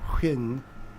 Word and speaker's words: Huen: Is generally pronounced like Win or Huen with a slightly elongated W sound.